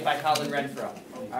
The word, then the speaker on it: Renfrew: re NF r NW Radford read throw it's pronounced Renfro it looks like it would be fun it's